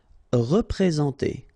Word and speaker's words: représenter: Représenter. All right, remember that you get this N together, and then, well, it's a nasal, so it goes in your nose, and it's en.